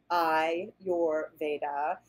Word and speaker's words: Ayurveda: bit more history of Ayurvedic medicine so Ayurvedic pronounced I your Veda is the ancient science of life and healing